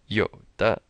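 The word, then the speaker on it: 有的: Don't say Yoda like Yoda in Star Wars. Chinese will have no idea what you're saying. Third tone, yo, a little pause, and then da. Yoda.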